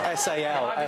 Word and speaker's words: Salford: Well, it's spelled S-A-L-F-O-R-D. Spelled that way, but it's said. Did you say salt? Salford. No, salt. Salt.